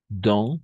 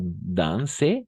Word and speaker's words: dans: Dans, no danse, no, no es. Dans, solo vamos a pronunciar dans.